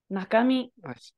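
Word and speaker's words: 中身: And here it's naka. Nakami. It's nakami. Chu is definitely how that kanji can be read, so very hard to know.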